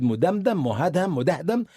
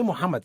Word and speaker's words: Muhammad: And then he could not pronounce the word Muhammad. He said muddam. He could not say Muhammad.